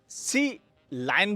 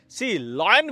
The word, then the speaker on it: Sealion: बी वाडी सीलाइन हां इसे कंपनी सी लाइन भी कहती है सी लॉयन भी लोग कहते हैं सीलिन भी कहते हैं ओ माय गॉड फिलहाल कंपनी जैसे प्रोनाउंस करती है मैं भी वैसे ही करता हूं सीलाइन हां यहां पर बी